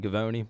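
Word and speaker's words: Givony: uh looks like Jonathan gavone that's how you pronounce it was on Zach Lowe's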